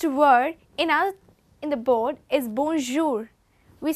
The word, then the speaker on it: bonjour: It is not being pronounced as bonjour or bonjour, but as bonjour. We have to fix a palate in according to say bonjour.